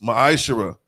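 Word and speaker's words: מעשר: through 10 means 10th in the Hebrew it's pronounced maishira ten percent of every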